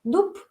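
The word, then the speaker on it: дуб: Como por ejemplo, si tienes dub, se escribe con B, pero ¿qué pronunciamos? Porque B está al final de la palabra y la pronunciamos como sorda, dup, ¿sí?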